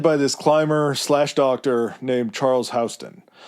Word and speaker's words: Houston: It's led by this climber/docctor named Charles Hston. It's Houston. Everything in my mind wants to say Houston. I heard it pronounced Hston so many times.